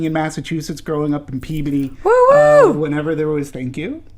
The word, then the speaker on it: Peabody: go back living in massachusetts growing up in peabody whenever there was thank you thank you for all you massachusetts out there and and people who know peabody and it's pronounced peabody not peabody screw all you peabody people anyway um for